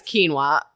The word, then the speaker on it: quinoa: to pronounce quinoa right one's like Canoa Walken and it's like no it's quinoa okay anyway so I feel